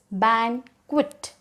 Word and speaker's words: banquet: spa next banquet so see the pronunciation over here it is bang quit bang quit so banquet large room